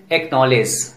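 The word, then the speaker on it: acknowledge: ए सी के एन ओ डब्ल्यू एल ई डी जी ई, pronunciation एक्नॉलेज. इन सभी शब्दों में देखिए के पहले सी आया है, इस कंडीशन में सी लेटर साइलेंट रहता है.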